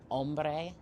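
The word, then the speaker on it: homme: Um, I think it was on It It's spelled H O M M E. So I almost want to say like ombre or ombre. Ombre, something like that.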